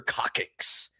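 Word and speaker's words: coccyx: That's what they call the the the the very tip of your tailbone when you break that thing, your cockix. And it's spelled weird.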